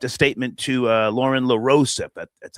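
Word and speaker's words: LaRosa: She uh sent a statement to uh Lauren Larose, that's how you say her name, at the the Breakfast Club asking people to just respect her privacy.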